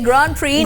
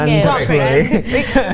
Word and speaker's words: Grand Prix: It's Grand Prix, not Grand Prix.